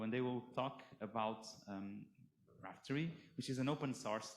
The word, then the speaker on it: Raphtory: say so how should i say it a raftery raftery so you're the uh i think it was